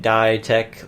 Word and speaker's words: Dietec: So my name was actually Dietec for a while, and I just started pronouncing it Dietec, like DIY pronounced die.